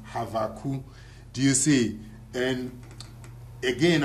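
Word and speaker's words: Habakkuk: another example is uh the prophet habakuk you see the proper Hebrew pronunciation is havu do you see and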